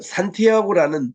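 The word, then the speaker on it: Santiago: 주로 스페인 계통인 그 산티아고는 뜻 자체가 뭔가이 이게에 야구보라 말입니다 성야고보 요것을 우리이 현지 발음으로 산티 아고라 그러죠 이거를 영어로는 뭔가이 샌디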